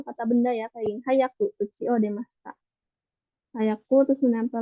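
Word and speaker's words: 速く: Tapi karena ini apa dibentuk jadi bentuk ku ya, i-nya dihilangkan, jadi dibacanya hayaku.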